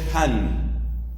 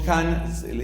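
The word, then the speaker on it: Hahn: por su análisis bíblico él se llama scott skott ahn scott and the hand se escribe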